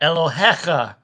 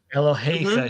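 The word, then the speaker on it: אֱלֹהֶיךָ: The Yod is not there for pronunciation. It's only there to mark a plural.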